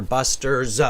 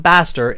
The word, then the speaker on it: Buster: it belongs to Buster Buster's books it's his books okay so Busters books and it's not bastard it's Buster okay uh even so like